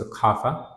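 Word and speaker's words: خاف: The root word is khawafa, ya khayafa, but it's pronounced khafa.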